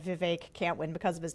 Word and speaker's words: Vivek: to Iowa so it I have been pronouncing his name Vivek for a long time and it is Vivek and the people in Iowa knew how to pronounce it correctly but also there's a